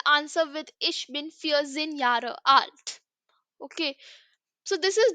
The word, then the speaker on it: ja: the alphabet section that J is pronounced as why okay so Yar will be pronounced with the Y okay next Vu which